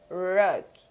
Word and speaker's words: rug: Rug. Rug. Percebam que o papel ele não se mexe, porque com a pronúncia do R, não vai sair ar.